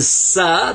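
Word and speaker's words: سين: And then sa, there's the three dots, the three stems that are up here like this, without dots, actually. So that's sa, pronounced like a S.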